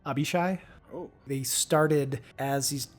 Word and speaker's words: Abishai: So, okay, I do have a question about the Abashi. Yeah. Abashi? I don't know how to pronounce it. Abishai? Abishai.